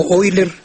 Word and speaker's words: Euler: Toma, toma el ejemplo de palabras como Oiler y Freud, que están escritos Euler y Freud, ¿verdad? Pues ya muchas, muchas personas saben que eu en alemán se pronuncia hoy, ¿verdad?